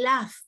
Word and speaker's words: laugh: Este sonido que está aquí, ¿cuál es? GH. ¿Suena? F. ¿No es cierto? Porque digo I laugh.